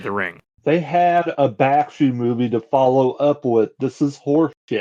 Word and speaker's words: Bakshi: Bakshi.